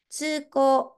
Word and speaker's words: 通行: はいじゃこれね正しい読み方は 1 番です通行って読みます通行はこれ通る